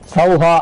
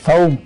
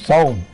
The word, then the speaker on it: சௌம்: ரெண்டு புள்ளி வைக்கும் போது உச்சரிக்கும் போது எப்படி பண்ணனும்னா ஓம் ஐம் கிரீம் ஸ்ரீம் கிளீம் சவம் அப்படின்னும் போது இம்ன்ற வார்த்தை வரும் சவ அப்படின்னா இம்ன்ற வார்த்தை வரும். சவஹா அப்படின்னு பண்ணக்கூடாது. சவம் அப்படின்னு உச்சரிக்கணும்.